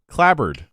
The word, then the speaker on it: clapboard: Clipboard is typically pronounced clipboard unless you're Jan, but clapboard is pronounced clabbered.